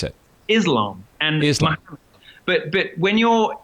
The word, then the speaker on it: Islam: It's Islam. It's Islam. Yeah. It's a z.